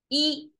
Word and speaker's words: 一: horizontal line character and it's pronounced by the book E flat tone e that's as simple as the Chinese and if it's pronounced next to a rising tone it becomes a fallen tone so there is this